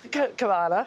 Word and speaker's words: Cavanagh: saying it right kav K there we go cavana and Lan you guys need to have ease